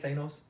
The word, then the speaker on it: Thanos: Is that how you say it, Thanos?